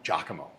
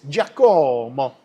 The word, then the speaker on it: Giacomo: Why the fuck do you guys call him Giacomo? What's his name? No, false. It's Giacomo.